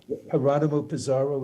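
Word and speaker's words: Jerónimo Pizarro: A translation of, is it Geronimo Pizarro? Is that how his name is pronounced?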